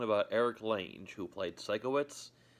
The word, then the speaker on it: Sikowitz: Eric lanes who played Sikowitz they mispronounced it twice they say sicko it's these people have not